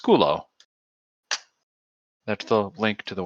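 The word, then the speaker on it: σκύλλω: the Greek word is pronounced skulo.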